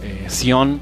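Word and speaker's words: Tziyon: Sión se pronuncia igual, pero se escribe diferente, se escribe con T, Z, I y latina, Y, O, N, ¿sí?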